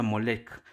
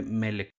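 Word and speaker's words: Molech: que ya habían conquistado en hebreo se le pronuncia moleck evitando este modo llamarlo por su verdadero nombre melek oscura figura mitológica relacionada con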